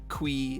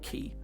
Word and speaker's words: ki: and learns the power of ki or chi or kui if you really want to pronounce it very wrong um i think he